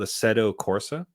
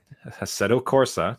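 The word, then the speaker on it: Assetto Corsa: is quite good called aeto Corsa yes I am probably butchering that pronunciation by the way I think it's Italian setto Corsa I'll pronounce it that way same with the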